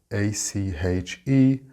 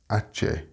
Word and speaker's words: ache: The actual word is ache, A-C-H-E, and it is not pronounced ache, like the Spanish ache. It's ache. Next we have fruit.